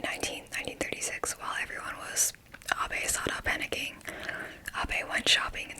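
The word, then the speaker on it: Abe Sada: nation was gripped with Abe-sada panic, which is, the Japanese pronunciation of her name. Last name, then first name.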